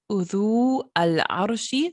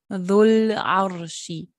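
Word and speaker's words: ذو العرش: Und wenn man das jetzt zusammenpackt, diese beiden Wörter, dann wird das Wow nicht ausgesprochen und auch das Hamzatul Wasl nicht ausgesprochen, sondern man geht sofort von diesem Dhamma zum Lam. Also nicht Udhu Al-Arshi, sondern Dhul-Arshi.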